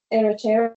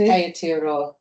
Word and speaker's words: Aotearoa: Publications are within teaching, teachers and curriculum, dance research, Aotearoa. I didn't pronounce that very well, Sue. Aotearoa.